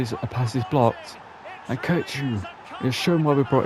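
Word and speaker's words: Kökçü: I feel like Kochi's the correct way of pronouncing it from what I've heard.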